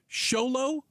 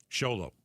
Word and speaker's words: Xolo: So it's Xolo like or Cholo. Xolo. Xolo like with an sh, not with a ch.